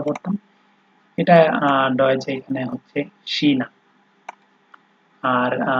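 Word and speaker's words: China: এই সেহা যখন হচ্ছে আপনার বাক্যের শুরুতে ব্যবহার হবে, তখন এটার উচ্চারণ তালিবর্ষ বা দন্তস্ব যেটাই বলেন, মানে স এর মতো হয়। যেমন এখানে আছে শেমি, শিনা, শেফ, ঠিক আছে।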